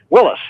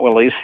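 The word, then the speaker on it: Willys: man Willis was pissed Willis is not Willies right he said that's how you say my name anyhow you guys you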